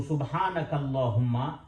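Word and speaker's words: سبحانك اللهم: है और अल्लाहुम्मा अल्लाह लेकिन जब आप कनेक्ट करेंगे पूरे को एक साथ तो अलिफ जो है वो साइलेंट हो जाएगा हम काफ को लाम के साथ मिलाएंगे अलिफ को छोड़ देंगे अलिफ को हम लिखेंगे लेकिन पढ़ेंगे नहीं तो सुभानकल्लाहम्मा अल्लाह हम आखीर से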